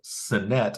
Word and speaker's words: Sinnett: And the 4th quarterback is Reed Sinnett, as we've determined his pronunciation is.